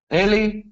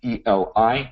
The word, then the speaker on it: Eli: you pronounce my name, not Eli. I understand E-L-I sounds like Eli, but it's really Eli because it's short for Eliyahu, which is Elijah. All right. So if you want to call me Eli or Dr.